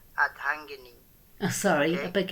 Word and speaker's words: Ardhangini: I have to ask, what is an Ardangi? Okay, first of all, it's pronounced Adhangini.